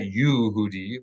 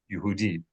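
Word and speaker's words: יהודי: But it's going to be an unaccented u. So not Yehudi, but Yehudi. So it's really not Yehudi. It's really Yehudi.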